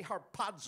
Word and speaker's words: harpazo: snatch away it's harpazo say harpazo harp and really hit that second syllable harpazo doesn't that feel